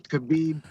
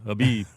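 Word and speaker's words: Khabib: saying Kabib Kabib. I hate when I hate when they pronounce the K too. Habib.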